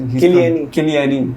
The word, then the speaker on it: Chiellini: Well, also Giorgio Chiellini, that's how he's Chiellini, how he's pronounced.